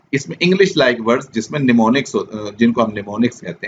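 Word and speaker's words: mnemonics: से हो रहा है लेकिन ये एम साइलेंट है, तो उन्होंने आगे बताया भी हुआ है इट is pronounced as निमोनिक्स। एम जो शुरू वाला है वो साइलेंट है, वो नहीं पढ़ा जाएगा।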